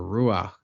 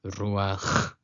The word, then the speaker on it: ruach: A lot of people say "Ruak" or "Ruah" but it's "RUACH".